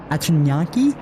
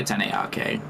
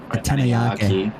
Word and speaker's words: Atanayake: not pronouncing that name, of the 100 Atanyaki. Did I get it right? I usually say Atanayake. Atanayake. Yeah, that sounds more better.